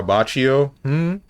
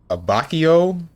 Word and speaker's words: Abbacchio: Italian for abbacchio?